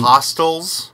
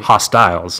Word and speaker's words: Hostiles: Wait, Hostels? Yes. Hostels, like the Eli Roth movies? No, Hostiles. Christian Bale movie. Right? Hostiles, not Hostel.